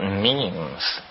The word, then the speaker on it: meme: last year about about memes you know what memes are memes are the smallest units of a concept and they're like genes the word is deliberately constructed to to rhyme with Gene and so when I